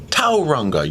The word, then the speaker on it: Tauranga: Because I heard overheard that it is Tauranga. You put the emphasis on the first syllable.